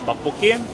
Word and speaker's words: Tteokbokki: Okay, this is the, how do you pronounce it? Tteokbokki.